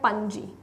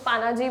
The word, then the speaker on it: पणजी: तो गोवा जो है, गोवा का कैपिटल है पणजी, कुछ लोग पानाजी भी बोलते हैं, that is अप टू यू कि आप कैसे इसको प्रोनाउंस करते हो, ठीक है।